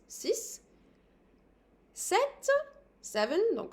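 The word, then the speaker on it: sept: as an S sis set seven no set the P here is silent then we have two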